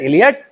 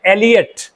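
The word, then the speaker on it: Eliot: टीएस इलियट कहते हैं हालांकि हिंदी में इस नाम का शुद्ध उच्चारण है एलियट नॉट इलियट इट्स एलियट लेकिन शुद्ध उच्चारण एलियट है लेकिन इलियट नाम इतना प्रचलित और विख्यात हो गया है कि अब उससे निकल पाना संभव नहीं है अगर आप एलियट कहेंगे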